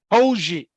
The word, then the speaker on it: Poggi: So Charlotte 49ers have chosen to hire Michigan associate coach Biff Poggi. Did I pronounce that correctly? Poggi.